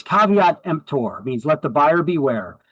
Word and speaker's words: caveat emptor: It is not pronounced kvmper. It's it's caveat emptor means let the buyer beware.